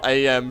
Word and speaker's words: AM: The AI is now AM from I have no mouth and I must scream. It's pronounced am.